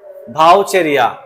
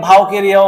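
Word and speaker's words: Vaucheria: ভাউচেরিয়া উদাহরণ হচ্ছে কি ভাউচেরিয়া অনেকে ভাউকেরিয়াও বলে কেমন ভাউকেরিয়া না ভাউকেরিয়াও ঠিক ভাউচেরিয়াও ঠিক ওকে ভাউচেরিয়া বা ভাউকেরিয়া তাহলে আমরা ভাউচেরিয়া বলতে পারি কোন সমস্যা নাই ওকে নলের মতন গঠন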